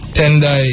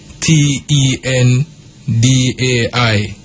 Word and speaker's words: Tendai: gender it's boy or girl yeah man so tendai is a female name and spelled t e n d a i you know tendai and then you have FEA